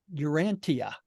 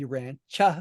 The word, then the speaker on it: Urantia: the book like urania why is it not pronounced Urantia right it's because the contact Commissioners heard the